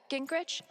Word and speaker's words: Gingrich: Gingrich?